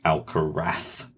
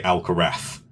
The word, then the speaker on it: Alcaraz: I want to preface, the thing that's been aggravating me since he's appeared is Carlos Alcaraz. Yes, there's been much discussion over the pronunciation and why that is.